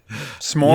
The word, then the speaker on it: s'more: There's an apostrophe in the spelling of it, my friends. But there's no A. There's no U. It's not S-U-M-O-R.